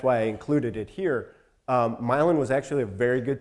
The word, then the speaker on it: Milan: bunch of Milan in the Midwest that are pronounced Milan even though they look like Milan so you think of Italy what about Hickory